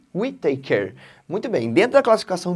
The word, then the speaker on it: Whittaker: Uma coisa interessante, eu pensava que o nome desse cara aqui era Robert Whittaker, mas não é, é Whittaker, tá?